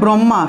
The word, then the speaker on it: ব্রহ্মা: এই যে ব্রহ্মা শব্দটা, এই ক্ষেত্রে এভাবে উচ্চারিত হয়, ঠিক আছে? ব্রহ্মা, তো এটার উচ্চারণ এভাবে হবে ব্রহ্মা, ব্রহ্মা, ব্রহ্মা, ঠিক আছে? ব্রহ্মা, এটার যুক্তবর্ণ হলো হ যুগ ম, ঠিক আছে? ব্রহ্মা উচ্চারণ করব, মটা আগে আসবে, কারণ ম হলো একটি স্পর্শবর্ণ, আর স্পর্শবর্ণ বর্ণগুলোর উচ্চারণ আগে করতে হয়, ঠিক আছে, স্পর্শ বর্ণগুলোর উচ্চারণ আগে করতে হয়।